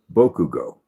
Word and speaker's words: Bakugo: It's pronounced Boku Bugo, but spelled Bakugo. Bokugo.